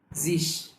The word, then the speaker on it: sich: এবার হচ্ছে সামনে আমরা ই প্লেস করে দিই, ইস, মিশ, জিস। আমরা আরেকবার বলি, ইস, মিশ, জিস। আরো একটা ইজি ওয়েতে আমরা এই উচ্চারণগুলো প্রপারলি করতে পারি।